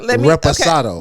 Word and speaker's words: reposado: I say it the way it said. Reposado. Okay. You would like to see the bottle? I'm glad to show. So I can look at the letters. Yeah, reposado.